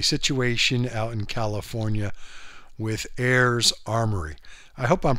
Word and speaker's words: Ares: out in California with Heirs Armory. I hope I'm pronouncing that right. It's heirs. A R E S Armory.